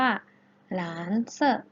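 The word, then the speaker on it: 蓝色: ฟ้า ใน ภาษา จีน เรา จะ พูด ว่า หลาน เซ่อ หลาน เซ่อ หลาน เสริม นัก เรียน ออก เสียง ให้ เรา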